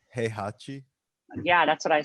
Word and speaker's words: Heihachi: No, his name is Heihachi. It's not Krusty. Honestly, I pronounced it wrong.